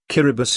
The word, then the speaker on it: Kiribati: pronunciation the pronunciation differs kyribus is the normal pronunciation as apostrophe apostrophe t